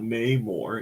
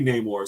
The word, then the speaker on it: Namor: Mexican culture and everything, if you're going to pronounce it in Spanish, it would still be Namor.